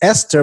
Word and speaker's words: Easter: you your friend had told me your name was esther but it was spelled e-a-s-t-e-r and me and colby were like that that spells easter she's like i know what it spells but it's pronounced esther and i'm like i